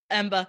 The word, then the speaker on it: Amber: Boston Rob and I pronounce Amber the same way. Yeah. Amber. Emba.